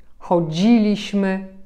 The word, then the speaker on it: chodziliśmy: Mianowicie chodziliśmy, widzieliśmy, robilibyśmy, pisalibyśmy, śpiewalibyśmy. Zauważcie, że tam, gdzie mamy końcówkę li bądź libyśmy, nie akcentujemy tej części słowa.